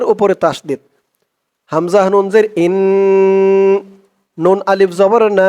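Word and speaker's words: إنّا: আপনাদের মুখস্ত হয়ে যাবে তো বলুন আমার সাথে ইন্না হামজা দিয়ে নুন ধরবে হামজা নুন জের ইন ওয়াজিব গুন্না হরকতের পরে নুনের উপরে তাসদিদ হামজা নুন জের ইন নুন আলিফ জবর না এখানে তিন আলিফ টান হবে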